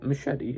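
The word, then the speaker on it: Muschietti: mentioned earlier and Andy muschetti well I did say it right machete yeah right um Andy Miss said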